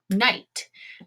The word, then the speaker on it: knight: in front of N, that K is going to be silent. So it's going to be a rule. Now, since I only have one vowel, it means I'm going to have a one-syllable word. Here we go. Let's do it. Now, remember this. K is silent.